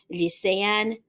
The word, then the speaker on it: lycéenne: have the same pronunciation, because the one with the E and the accent, we pronounce it as an A, and the E without the accents, of course, we pronounce it as an E.